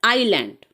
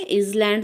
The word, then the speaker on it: island: है, that is called आइलैंड। इसको आइलैंड बोला जाता है। ठीक है, आइलैंड बोलते हैं, इसमें एस साइलेंट है, इजलैंड नहीं है ये।